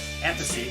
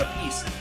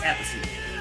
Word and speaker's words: Appice: Tony Franklin, and Carmen Appice. That's the right way to say it. It's not a piece. I used to think it was a piece. It's Appice. And just a really killer album, man.